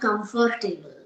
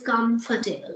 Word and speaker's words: comfortable: of particular words like most of the people they say comfortable it is not comfortable no table is there it is comfort aable it's comfortable so this shading technique